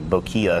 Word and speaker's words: bokeh: In America, we pronounce it bokeh, but I think it's actually bokia.